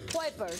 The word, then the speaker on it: Kuipers: A ver, enséñame a pronunciar. Jorn Kuipers. Kuipers.